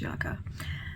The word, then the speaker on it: Yucca: Apparently it's pronounced Yucca.